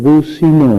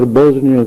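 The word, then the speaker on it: بوسنیا: منصر المسلمین فی البوزنیا، حالانکہ وہ ملک بوسینا ہے، اسلامی ملک ہے، بوسینا اس کا نام ہے. انگریزوں نے اپنے اس تلفظ سے بوسینا کو بکار کر بوزنیا کر دیا.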